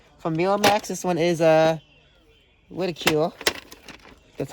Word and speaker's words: Ridicule: This one is Ridicule.